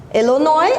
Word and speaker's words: Illinois: Illinois, it's a correct pronunciation of this word.